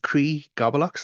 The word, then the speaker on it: Críth Gablach: a c h then also we have the cre gobblocks that's c r i father t h or kit goblock g a b l a c is the